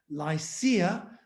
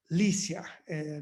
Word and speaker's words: Lycia: area that we call lycia or lisia depending on how you pronounce it and the the